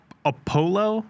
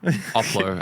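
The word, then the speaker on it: Opulo: But circling way back, Lumen PNP, their new Apollo? Oplo, I believe is how they pronounce it.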